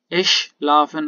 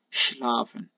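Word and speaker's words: schlafen: شلافن، شلافن، اش لافن اگر بوشه اشتباهن در تلفظ آلمانی ساکی را دیگرن بعد بوشه شلافن.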